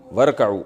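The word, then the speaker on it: وَارْكَعُوا: तो वाव शुरू में आ गया तो अलिफ साइलेंट हो गया वर असल में था व इरकाउऊ तो पढ़ेंगे क्या वरकाऊ और झुको रुकू करो मर राई झुकने वालों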